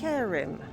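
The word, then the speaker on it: Hjerim: Seems it's pronounced Yerim.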